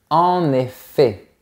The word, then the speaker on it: en effet: On va dire en effet, sans prononcer le T.